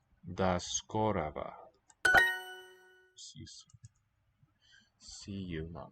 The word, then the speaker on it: до скорого: These unaccented O vowels will become A. That's skoraga. Skorava. And this, exceptionally, this written G is pronounced as a V. Da skorava.